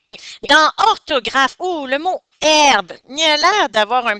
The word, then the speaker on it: herbe: e j'ai pas trouvé herbe mais après j'ai pensé la lettre H pour t silencieuse alors je suis allé chercher dans la lettre H dans le dictionnaire effectivement j'ai trouvé que le mot herbe s'écrit h e r